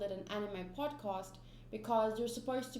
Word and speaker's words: Animae: Hello, and welcome to the Animae podcast. Animae spelled like M-A-E, and it's also known as the Animaecast.